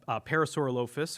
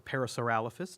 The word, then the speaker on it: Parasaurolophus: And there's one called Parasaurolophus or Parasaurolophus, depending on your pronunciation.